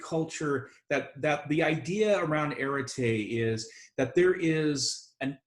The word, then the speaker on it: arete: And I wish I had a way to sort of to write it on the board and spell it for you, but it's arete, A-R-E-T-E.